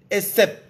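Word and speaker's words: עצב: Hay una tristeza que es de Dios, que en hebreo se escribe E-T-Z-E-B, esep, que significa sufrimiento, dolor, tristeza, aflicción, en hebreo.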